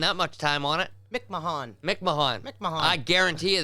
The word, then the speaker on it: McMahon: No, it's McMahon. Okay, I'm not going to spend that much time on it. McMahon.